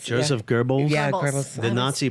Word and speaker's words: Goebbels: Goebbels. Joseph Goebbels?